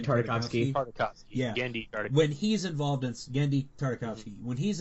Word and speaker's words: Tartakovsky: How do you pronounce his last name? Tartakovsky.